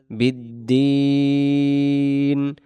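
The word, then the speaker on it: بالدين: আই আরজি আবার বিদ্দিন বিদ্দিন এই জায়গায় টেনে দমটা ছেড়ে দিতে হবে যদি আমি বলি বিদ্দিন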